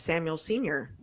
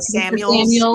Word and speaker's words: Samuel: Yeah, Deebo Samuel changed his number and has added to his name as Samuel Sr.